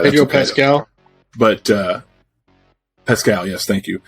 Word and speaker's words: Pedro Pascal: I didn't watch it, and it's got Padel Pasco, or was it what's his name, Pasco? Yeah, I think so. Yeah, I probably just butchered that. Pedro Pascal.